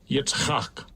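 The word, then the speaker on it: יצחק: Right, so let's go and look up the name Isaac in the biblical Hebrew, and in the Yiddish pronunciation they will say Strong's H, 3327. Yitzchak.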